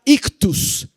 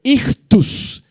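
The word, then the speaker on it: ἰχθύς: pez en el idioma griego es la palabra ictus y ch t u s ictus ictus ictus es la palabra parapes o pescado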